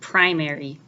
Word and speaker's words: primary: do a little practice listen to these words mark the syllables and the primary stress I'll say each word